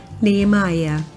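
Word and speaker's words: Nehemiah: gente não é pronunciado esse h não é pronunciado então seria nem Maia Ok nem malhar esta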